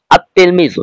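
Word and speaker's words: التلميذ: দিয়ে নিচে লেখা রয়েছে আত তেলমিজু এখানে কিন্তু লাম হরফের লেখাই এসেছে কিন্তু পড়ায় আসেনি আপনি যখন লিখবেন তখন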